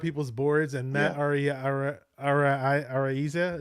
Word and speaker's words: Araiza: Araiza, is that how you say it? Areza, yeah, like Yeah.